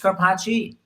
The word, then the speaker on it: Scarpaci: It really should be Scarpaci. Is it Scarpaci?